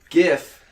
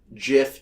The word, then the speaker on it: GIF: So GIF is pronounced with a soft G, as in GIF, as told by the creator Steve Wilhite.